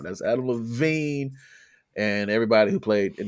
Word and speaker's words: Levine: It's Adam Levine, and then there's also, of course, everyone's favorite, Jesse Carmichael.